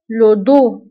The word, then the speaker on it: le dos: فلو دو أيضا كنكتبوه بإس آخر الكلمة ولكن ما كنطقوهاش، le dos.